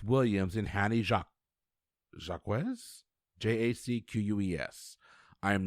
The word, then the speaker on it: Jacques: and hannie jacques jacquez j-a-c-q-u-e-s i am not even going to pretend i can speak or pronounce french it's jacques is usually how that's pronounced okay all right so